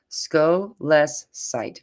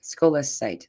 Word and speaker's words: scolecite: Oh, here we have a way to pronounce it. Scolecite. Scolecite.